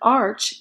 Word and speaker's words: arch: And the word arch, which is pronounced arc in the word matriarch, means rule.